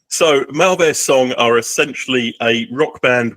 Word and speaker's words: Mauvais Sang: Mauvais Sang, is that the right way to pronounce the band name? Yeah, Mauvais Sang.